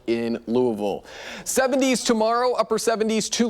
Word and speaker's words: Louisville: We are in Louisville, Kentucky. Louisville.